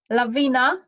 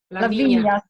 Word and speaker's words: Lavinia: Laviana, sorry, sorry, I don't know how to pronounce the name. Lavinia, sorry, Lavinia.